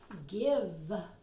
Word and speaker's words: give: This is a word that the silent E does not make I say its name. So that doesn't follow that rule.